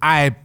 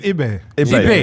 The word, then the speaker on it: Ibe: Jordan I um is it pronounced I or IB? It's IB.